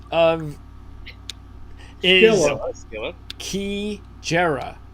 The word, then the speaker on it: Kijera: Kijera, named for a safari lodge in Botswana that Mr. Rigney favors for a getaway. So it's Keejera.